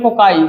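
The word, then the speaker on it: cocci: और इसी का प्लूरल, पीएल से आप लिखे प्लूरल वर्ड, आप ये प्रोनाउंसिएट करो चाहे इसको प्रोनाउंसिएशन करो, इसको बोलेंगे कोकाई। क्या पढ़ेंगे? कोकाई।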